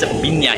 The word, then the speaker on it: Viña: And I say pina, even though it's written as v i n a, they pronounce it as vignya here.